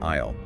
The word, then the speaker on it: aisle: I just learned that the S in aisle is silent.